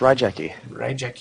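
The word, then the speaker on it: Raigeki: a blue tan rayi I don't know how to pronounce that because it is pronounced Rie Rie I know this because I am a Yu-Gi-Oh nerd you are a Yu-Gi-Oh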